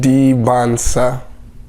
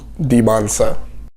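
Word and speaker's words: Dybantsa: Debonsa. Just forget the T's. They are silent. Debonsa.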